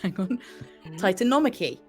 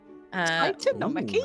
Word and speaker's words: Titanomachy: And it is the Titanomachy. Titanomachy? Which is how you say it.